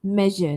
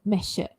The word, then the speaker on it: measure: And then j, voiced, as in the word measure. Je there, measure, not measure.